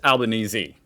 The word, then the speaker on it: Albanese: I always say it like I'm always confused now, but you guys have told me the correct way is Albanese. Even though I've heard other like official people say Albanese, but in Australia, Albanese.